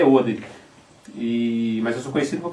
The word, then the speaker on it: Odery: nosso né até eu sou conhecido como Maurício oderi Mas e a pronúncia correta é oder e Mas eu sou conhecido por causa da marca